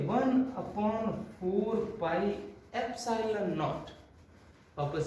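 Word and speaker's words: epsilon naught: ये भी एक सिंबल है, जैसे पाई, इसका नाम क्या है पाई, वैसे इसका क्या नाम है एप्सिलॉन, ऐसे प्रोनाउंस करते हैं इसको, एप्सिलॉन नॉट।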